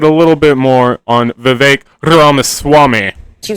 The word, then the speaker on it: Vivek: Brown let's talk about vivec ramaswamy or is it Vivek I think it's Vivek it rhymes with cake now he's a presidential